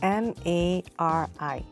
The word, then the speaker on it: Mari: How do you pronounce M-A-R-I?